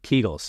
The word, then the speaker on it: Kegel: first let me ask is it pronounced keigle or Kegel keigle keegel okay healthy or not healthy